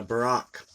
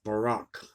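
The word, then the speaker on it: Buraq: This animal is Barak. It's spelled B-U-R-A-Q or B-O-R-A-K. So I'm going with the Borak, whose name means the shining or resplendent one.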